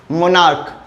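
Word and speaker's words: monarch: CH के लिए हम लोग वहाँ पे क बोलते हैं, जैसे एस्टमैक, मोनार्क, ठीक है।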